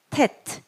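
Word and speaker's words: ט: 이거는 테트죠. 테트. 티읕 발음. 테트.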